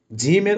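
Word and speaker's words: جيم: সেই জিম এবং জামালপুরের উচ্চারণ হবে জিম জিম জিমের উচ্চারণ কোথা থেকে হবে? জিহবার মধ্যখান থেকে।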